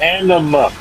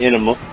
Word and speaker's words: Anima: I might have said it weird, but it was Anima, not Enema.